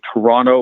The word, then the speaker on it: Toronto: a common thing that he's learning how to say Toronto without pronouncing the second tee and he would do